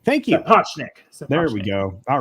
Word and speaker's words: Sapochnik: Oh, we have the actual pronunciation. Thank you, Logic's Finest. It's Sapochnik. Thank you. Sapochnik.